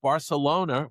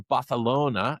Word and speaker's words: Barcelona: uh who lives now in Barcelona or Baralona, uh depending on how you how you'd like to pronounce it.